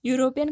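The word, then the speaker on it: European: के उच्चारण पर जाना, तो मैं अगर यूरोपियन का अगर उच्चारण करूँ तो ये हो रहा है यूज, और यूज के साथ जो आता है वो हमारा आता है ए, कॉन्सोनेंट आता है ना।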